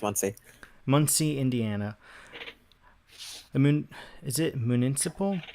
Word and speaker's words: Muncie: Yeah, it's pronounced Muncie.